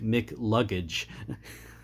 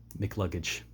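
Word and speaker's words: McCluggage: this guy's name because you don't pronounce both C's when you say it, so it just sounds like Mick Luggage. And yeah, it's just comical to me, but Mick Luggage.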